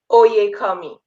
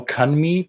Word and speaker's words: Oyekanmi: Oyekanmi. Oyekanmi. Oyekanmi. Okay. You got it. Got it. The N is silent then? Is Oyekanmi? No kanmi, but kami. Yes. Right? Oh, okay. Yeah, kami.